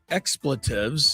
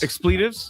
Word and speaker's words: expletives: If you want to yell and scream, uh, you know, expletives. Exploitives. Now, I know I mispronounced that word often, but not this time.